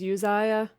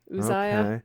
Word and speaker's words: Uzziah: and you can see I believe that's also sometimes pronounced as Uzziah Uzziah also Azariah he was